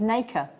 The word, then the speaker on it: nacre: And he says is actually the correct word when you're talking about it is nacre.